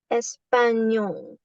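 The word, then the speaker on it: español: actually pronounce this combination you have to pronounce the N the N sound and then pronounce Y like in yacht So in the word champ. So let me slow down. Champ, champ, champ, mont, mont, espanol. So you're actually pronouncing yol instead of nol.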